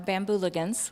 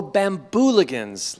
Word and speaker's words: Bambooligans: our bamboo team our bamboo logans which we affectionately bamboo what bamboo lookings bamboo liggins did i pronounce that correctly bamboo ligands oh bambooligans like the like the hooligans yes but the bambooligans